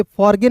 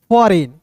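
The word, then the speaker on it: foreign: फॉरगेन नहीं, फॉरेन।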